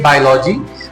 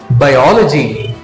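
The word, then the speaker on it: biology: जैसे हम एक और वर्ड लेते हैं, एक वर्ड यहां पर लिखा हुआ है, आप लोग इसका प्रोनाउंसिएशन करते होंगे बायोलॉजी, लेकिन फ्रेंड्स इसका सही प्रोनाउंसिएशन होता है बायोलॉजी।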